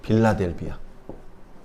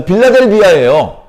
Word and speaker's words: 빌라델비아: 이방인이 있습니다 여기는 어디냐 필라델피아 성경은 발음을 세게 하면 안 되나 봐요 원래 필라델피아거리 부드럽게 자 빌라델비아 여기 유대인들이 있습니다 유대인들은